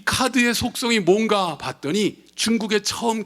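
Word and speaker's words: 卡: 5 잘하시네요 이게 왜 카드가 짜자 이 카드가 짜야 카 카 라고 발음합니다 오 오오 예 대단한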